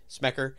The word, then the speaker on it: Smecker: life he told cops named FBI smecker smackers all the rhymes with pecker that's how you remember